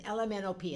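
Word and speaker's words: Ella Minnow Pea: Okay, it's spelled like the name, Ella, E-L-L-A, M-I-N-N-O-W, like the fish, and P like the vegetable. And it's called and it says LMNOP, and if you say it really quickly, that's the name of the book.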